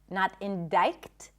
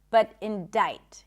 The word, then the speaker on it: indict: The C is silent in the word indict. Indict, not indict, but indict.